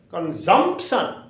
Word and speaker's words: consumption: second syllable for example you will have to keep the accept on second syllable consumption consumption consumption remember some